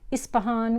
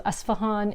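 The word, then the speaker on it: Isfahan: from uh trade like ispahan which actually the way it's spelt it's actually supposed to be asvan so esfahan is a city in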